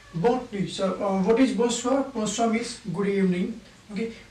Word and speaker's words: bonsoir: Bonsoir, bonsoir, bonsoir, bonsoir means good evening, good evening. Bonsoir. Okay, bonsoir. How I pronounce it? Bon. Okay, soir. Bonsoir. Okay, like bonjour, bonjour.